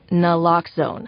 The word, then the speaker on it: naloxone: if you mispronounce it for the record it's naloxone na like is nooon addictive nuh-uh locks like Noone keeps humans safe like locks keep bikes safe and own like none can save lives in our very